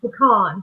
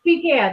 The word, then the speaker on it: pecan: Like they're trying to make a southern nut fancy. Pecan. Fuck off, it's pecan.